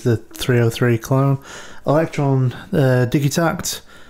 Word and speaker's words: Digitakt: 303 clone electron uh digi tact is i think how you'd actually pronounce that and um bearing a